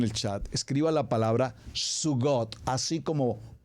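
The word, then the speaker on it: zugot: chat escriba la palabra suot así como pronuncia la voy a deletrear Z u g o t Z u g o t suot Esta es una palabra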